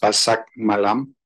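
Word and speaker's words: pasar malam: and so on um basam malam means Night Market uh is usually pronounced Bak malam uh by the Chinese speakers and so the utterance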